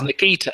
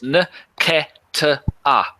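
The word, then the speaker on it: Nketiah: And he says Nikita is Nketa. Nketa.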